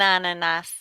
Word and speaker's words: ananas: cocotier, un moustique, an ananas. We're going to actually pronounce that S when typically we don't.